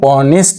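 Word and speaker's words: honest: কিন্তু এই শব্দটার উচ্চারণ এখানে এইচ টা উচ্চারিত হবে না এখানে সাইলেন্ট থাকবে উচ্চারণ কোথায় হচ্ছে অনেস্ট উচ্চারণটা হচ্ছে এখানে অ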